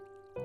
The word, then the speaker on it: Tao Te Ching: In the Tao Te Ching (Pronounced: Dao The Jing), ancient Chinese philosopher Lao Tzu (Pronounced L-ah-oh D-zoo) wrote: "Life is a series of natural and spontaneous changes.